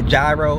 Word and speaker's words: gyro: and give me a gyro and before y'all tell me it's pronounced hero I know that but